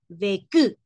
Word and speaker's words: vécu: Por lo tanto, la pronunciación sería vec, vec, vec, vec, vec. Pero aquí es vecu, vecu, ¿ok?